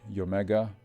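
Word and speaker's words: Iomega: least 10 years and i omega zip i don't even know what's the correct correct pronunciation of that in italy we say yomega i don't even know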